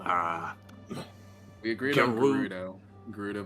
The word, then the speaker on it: Gerudo: Gerudo village. That's how you pronounce it.